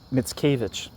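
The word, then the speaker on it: Mickiewicz: Mitskavich.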